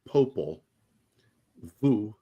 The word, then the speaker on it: Popol Vuh: It's Popol, like Popol, Vuh, V-U-H. But in Spanish, it's pronounced differently. Martin said it.